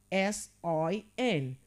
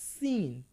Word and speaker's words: sin: Sin and not seen. It is what? Sin using the short sound because letter I gives the sound I.